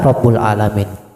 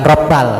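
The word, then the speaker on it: رب العالمين: Itu yang yang pasnya. La yaghfiru dzunuba illa rabbul alamin. Tidak ada yang bisa memaafkan dosa-dosa kecuali Rabbul Alamin. Bukan Robbal.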